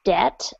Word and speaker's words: debt: and remember that and the word debt is silent so it's debt um sorry for interrupting